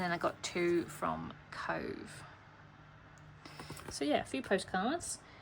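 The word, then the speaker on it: Cobh: Um so when you see it set sail from Queenstown, it is Cove. Um, but they changed the name back to the Irish version of Cove, which is spelled C O B H um, since then.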